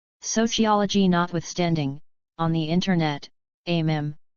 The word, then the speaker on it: meme: notwithstanding on the internet amm rhymes with cream is usually described as